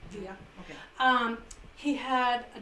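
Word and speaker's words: Villa: chasing after Poncho V I say it right via okay um he had a Dodge touring vehicle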